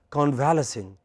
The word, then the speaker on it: convalescing: But when you pronounce it as convalescing, what do people understand you are talking about? They think you are convulsing.